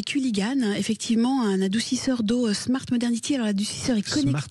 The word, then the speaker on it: Culligan: Ça, c'est avec, comment ça se prononce ? Un Culligan ? En fait, on dit Culligan.